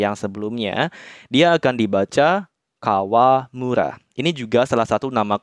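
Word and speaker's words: 川村: Kemudian kalau kanji sungai, kita tambahkan kanji mura atau desa seperti yang sebelumnya, dia akan dibaca Kawamura.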